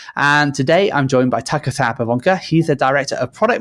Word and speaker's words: Sauer-Pivonka: And today I'm joined by Sauer-Pivonka.